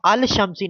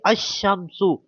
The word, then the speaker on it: الشمس: ساتھ ملا دیں گے، تو اس کو اب الشمسی نہیں پڑھیں گے، الشمسو، ٹھیک ہے، اس طرح پڑھیں گے الشمسو، ٹھیک ہے، اس طرح،